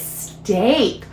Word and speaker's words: steak: right all right ooh there is another way to uh pronounce that double Val te oh yeah it can say the a sound so this isn't STI H that doesn't sound right oh it's steak yep I know a